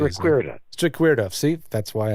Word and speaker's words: Strikwerda: Strikwerda.